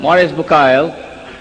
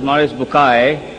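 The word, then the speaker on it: Maurice Bucaille: a scholar of Quran Dr Morris bukail pronounced as Maurice bukai I'm a right doctor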